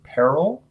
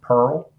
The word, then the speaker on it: peril: Now, depending on which part of the country you're from, depends on how you might pronounce this next word, peril or pearl.